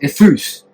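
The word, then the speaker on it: εὐθύς: It's an adjective that in Greek is pronounced ethus.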